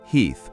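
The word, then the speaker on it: Heth: Meanwhile, the Confederate vanguard under General Heath, pronounced Heath, but okay, is marching in thinking they're about to grab some supplies.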